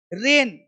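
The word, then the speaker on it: reign: रिसाइन, जी silent, त्याग को देना। रेन, शासन करना।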